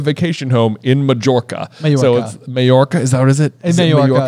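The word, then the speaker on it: Mallorca: it's okay it's okay Jim Dale says it as major does he really okay okay okay that's well then maybe maybe it has double pronunciation but I think it's in Spain and it's a soft J yeah okay well mayorca then and I just think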